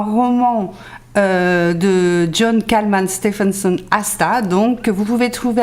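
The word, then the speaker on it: Ásta: Donc Aska de John Kalman Stephenson. C'est voilà. C'est Asta.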